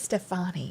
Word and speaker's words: Stefani: Stefani, yeah.